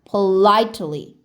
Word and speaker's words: politely: 강세가 있으면 I 소리 나면서 길게. 양옆으로는 약하게. Politely.